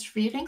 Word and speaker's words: Schwering: And it's actually a pun of my last name because my last name in German pronunciation is Schwering, so schwer, like heavy, and ring, like ring.